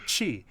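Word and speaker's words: ち: Like when the T plus E syllable is actually chi, and then the T plus U syllable is tsu.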